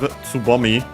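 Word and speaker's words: 蕾: And then we have Tsubomi. Which means bud, as in a flower bud, is accent on the last mora.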